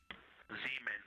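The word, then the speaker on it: Zeman: Zemen. Okay. Can you say the first letter? I may be pronouncing that wrong.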